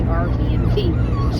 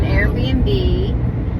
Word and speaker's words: Airbnb: rented us an Airbnb I don't know why I say it wrong sometimes I say rbnb she had rented us an Airbnb and so we really